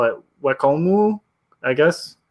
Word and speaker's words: Wacom: technically it should be Wacom, but if we're gonna be technical, we should call it Wakomu, I guess. So with like a mu at the end, and my pronunciation of Japanese is always terrible.